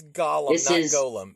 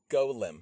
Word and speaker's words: Golem: his past now that's gollumin so guys don't pronounce it like Gollum it's Golem yeah so what's the